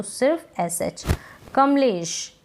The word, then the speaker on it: कमलेश: अब यहाँ पर कमलेश, हम इस नाम को ऐसे नहीं बोल रहे हैं कमलेश, हम बोल रहे हैं कमलेश।